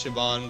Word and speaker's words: Siobhan: I think it's Shaban. Shaban? Soap Siobhan? Mark. You think she was a member of Captain British crew? Yes, it's Shaban.